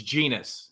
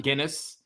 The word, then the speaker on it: Genus: It's genus, not Guinness. It's not a beer.